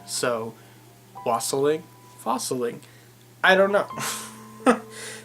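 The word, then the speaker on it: wassailing: and that said its it rhymes with fossil ink so Wassily fossil ink I don't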